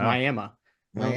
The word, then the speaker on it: Miami: It's spelled like Miami, Florida, but if you call it Miami, they will hate you for the rest of your life. It is Wow. Miami.